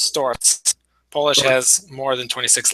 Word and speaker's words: Sztorc: It's a completely different letter that's pronounced TS. Wow. So, it's STOs.